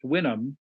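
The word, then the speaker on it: Houyhnhnm: spelled houu h u h ym it's it's pronounced winam but if you have the courage you're supposed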